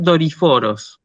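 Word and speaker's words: δορυφόρος: tengo que escribir, o sea, tengo que leer Doriforos.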